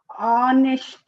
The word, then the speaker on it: honest: You remember here H, even though it is a consonant letter, we are pronouncing it honest man. He is an honest man. We can't say he is an honest man. Why? Because we are pronouncing it in vowel sound.